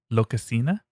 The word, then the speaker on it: Lokasenna: Lokasenna? And it just means... It sounds like sort of like Spanish. Well, I said it that way, yeah. Okay. Well, let me say it like Norse. Lokasenna.